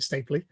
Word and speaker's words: Stapley: stapley um so am i pronouncing that right by the way is it stapley yeah that's it yeah good uh talking